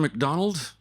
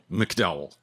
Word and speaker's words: McDowell: That's not the first time my name has been mispronounced often. It's reservation for Mr. McDonald? No, McDowell.